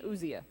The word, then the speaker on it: Uzziah: you're good this is a story of King Uzziah I like that name I had to listen to it just to make sure I pronounced it right King Asya he was one of the kings of Judah